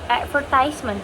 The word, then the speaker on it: advertisement: For example, the word advertisement. Advertisement. That's how American English pronounce advertisement. In British English, they pronounce advertisement. Advertisement. Advertisement. You can see the stress on the different syllable.